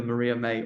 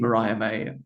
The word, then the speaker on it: Mariah May: pronounce the name that it was either Maria May or Mariah May and then settled on it is indeed Mariah May nicknamed mm orm and